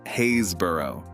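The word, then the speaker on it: Happisburgh: back to that soon even harder is happersburg pronounced haysborough centuries of old english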